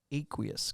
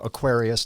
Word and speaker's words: Aqueous: so let's get into it tell me about aqueous Technologies first how did you come up with the name aqueous because it's kind of cool it sounds like